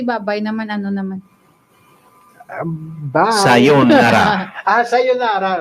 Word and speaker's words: Sayonara: Sayonara. Sayonara, right? Sayonara. Sayonara. Sayonara. Sayonara. Though 2 syllables gali. No? Sayonara. Hindi nga sayonara. Sayonara. Ang emphasis sa second. Ang nabatiyan ko naging balaya, sayonara.